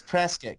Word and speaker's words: Prescott: I don't know how they pronounce it up there. It's Prescott.